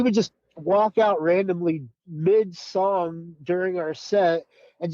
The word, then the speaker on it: Miami: it's spelled like Miami but it's called It's pronounced Mi for some reason playing at this uh it's